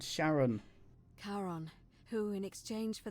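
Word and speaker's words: Charon: is a little off the name you heard wasn't karen it was c-h-a-r as in caron the ferryman of the dead sharon caron who in exchange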